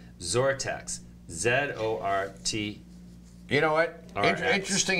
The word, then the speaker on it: XORTX: He's the CEO of XORTX Therapeutics, and that's not spelt with a Z or a Z. It's spelt with an X. XORTX.